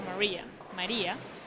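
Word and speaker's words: María: There's an accent on the I Okay. of my first name. So Maria, and then, I have an accent on the E.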